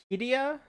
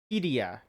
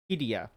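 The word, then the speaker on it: Qiddiya: big old mega city project, uh is it pronounced Kia? Q I D I Y project. It's Q I D I Y A. KIA Quidia. It's um the big Saudi Arab Arabian city. Hidia.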